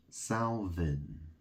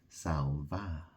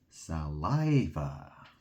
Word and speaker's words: Salvin: Well, that's the thing, it can be spoken in a French way, S-A-L, Sal, Vin, V-I-N, or Va, because in French, Vin is Va. You say Va, so my surname can be pronounced Salva.